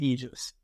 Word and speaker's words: Aegis: I pronounce it Aegis. Aegis. Every word in the military. So there's Aegis is used in a few different contexts in the military. So anybody with a military background pronounces it Aegis.